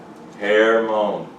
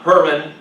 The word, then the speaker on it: Hermon: Right? Hermon. Say it like that. Not Herman, Mount Herman.